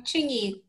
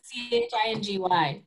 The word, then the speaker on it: Chingy: I'm Chingy. Chingy. It's like with a C-H-I-N-G-Y. That's how you say it.